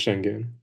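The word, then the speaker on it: Şengün: Yeah, but it's pronounced shenun.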